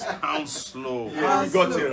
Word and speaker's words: Hounslow: And somebody corrected us when you know how we're trying to pronounce that Hounslow. Yeah, it says Hounslow.